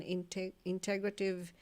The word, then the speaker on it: integrative: So if any of you is looking for information on integrative medicine, is that the right way to pronounce that?